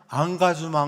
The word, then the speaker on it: engagement: 또한 프랑스어 권 에서 는 철자 가 같고 "engagement" 라는 단어도 동일 하지만 프랑스어로 는 "Angajuman" 이라 고 발음 합니다 .